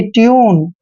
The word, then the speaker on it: tune: देखिए U के बाद कॉन्सोनेंट आया है, N क्या है, कॉन्सोनेंट है, और उसके बाद E आया है, तो U का उच्चारण U ही करेंगे। जैसे T को टे पढ़ते हैं और U को U ही पढ़ना है, और NE को न, यानी कि ट्यून।